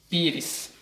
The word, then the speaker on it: pires: Por exemplo, a palavra pires. Qual é o plural de pires? Pires termina em S, mas quem é a sílaba tônica? Pires, um pi. Então, pires é um paroxítono.